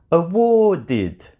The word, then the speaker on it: awarded: when you have a verb like award, award, award already finishes with a d sound, so when you add ed, ed sounds like awarded, awarded. That is the correct pronunciation.